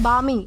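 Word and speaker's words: balmy: दोस्तों इसके बाद हमारा अगला वर्ड आता है बामी। दोस्तों इसे जो है वह बा में प्रोनाउंस किया जाता है क्योंकि इसमें एल साइलेंट है और इसका मतलब होता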